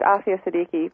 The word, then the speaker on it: Aafia Siddiqui: It's Aafia Siddiqui, but you're very close.